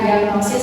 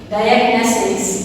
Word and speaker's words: diagnosis: Jadi pengucapannya kurang tepat bukan diagnosis tapi coba dilihat untuk transcriptionnya menggunakan ear diagnosis. Dayais ya.